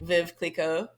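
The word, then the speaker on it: Veuve Clicquot: Is it some French name? Vive Clicquot. That's exactly what it is. Okay. Is that how you say it? Viv, yeah. I don't know that my French is awesome, but I think that's pretty close.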